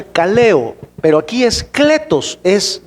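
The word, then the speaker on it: καλέω: palabra que viene que que se pronuncia caleo, pero aquí es cletos, es llamado.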